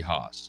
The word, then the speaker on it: Haas: It's pronounced Barry Haas, according to the video archive, the House Revenue and Tax Committee.